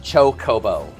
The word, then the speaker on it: chocobo: It is literally pronounced chocobo.